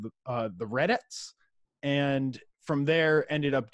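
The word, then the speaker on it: Redettes: well yeah I mean I think I'm saying it right it's like re d e TT es okay okay right so it's not like read it like that to make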